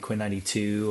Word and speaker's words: Quinn XCII: So for the last like 5 or so years, I've been with an artist named Quinn 92 or Quinn XCII is how you spell it.